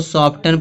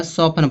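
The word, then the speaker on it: soften: कुछ लोग इसको सॉफ्टनर्न पढ़ेंगे। बहुत सारे लोग सॉफ्टन पढ़ देते हैं। तो यहां पे सॉफ्टन नहीं इसको पढ़ा जाएगा। सॉफ्टन पढ़ा जाएगा। क्यों पढ़ा जा रहा है? क्योंकि लास्ट में टी इ एन आ रहा है। जब लास्ट में टी इ एन आएगा तो टी क्या होगा? साइलेंट होगा।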